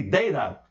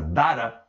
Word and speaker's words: data: Se você quiser pronunciar Dara, Pode também. Eu prefiro Data, devido a uma série, uma franquia Star Trek chamada The Next Generation, em que aparece lá um androide com esse nome, Data.